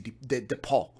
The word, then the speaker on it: depot: Yeah, and they don't even say depot. They say depot. You have to use the French kind of pronunciation.